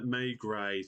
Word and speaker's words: Maigret: Maigret, thank you, Chris.